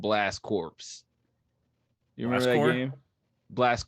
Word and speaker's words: Corps: The Marine Corps. CORPS, the Marine Corps. Is this the right game? Oh, yeah, you're right. No, wait, are you sure? Yeah, Positive. So when you say the Marine Corps, it's spelled with a P?